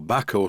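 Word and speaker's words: Bahco: My large Backo spanner, or Backo spanner as it should be pronounced, which is screwed to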